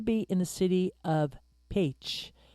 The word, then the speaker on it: Pécs: It's going to be in the city of Pécs, which is spelled PECS, uh, pronounce Paych And from everything that I've been studying about it, it sounds like a beautiful, beautiful city.